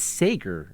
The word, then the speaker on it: Sager: It is Sager, everybody, just for the record.